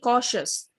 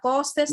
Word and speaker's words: cautious: বি কশাস। কশাস মানে সতর্ক থাকা। বি কশাস, বি কশাস। Be cautious. না কসেস না, কশাস।